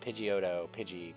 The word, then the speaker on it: Pidgeot: Because like it's spelled like a pigeon, but with a T at the end. But Pidgeotto, Pidgeotto.